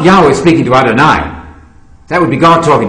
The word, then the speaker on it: Adonai: Testament it never means god there's another word Adonai which your uh viewers can can uh remember because it rhymes with El Shai and people know the